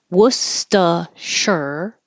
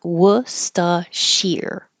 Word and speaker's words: Worcestershire: long looking word, but we can make it shorter in 3 syllables. And we don't have to say the middle R. You can, but it's just totally correct to also drop it and make it more easy.